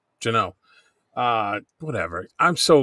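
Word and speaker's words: Jeannot: Janat, right? Jano. Jano.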